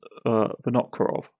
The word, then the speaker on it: Vinokurov: This is a turn-based strategy roguelike dungeon crawler, developed and published by David Vinokurov. If I have pronounced your name incorrectly, I do apologise, but it is Vinokurov.